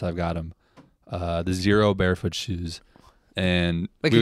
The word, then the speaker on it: Xero: got them uh the zero barefoot shoes and wait can you spell that out for us zero x e r o zero shoes zero Barefoot uh it's